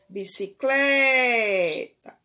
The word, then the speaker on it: bicicleta: tônica ok observe ia pronunciando a palavra bicicleta bicicleta então a sílaba mais forte foi o claire então ela é o que uma paroxítona ok então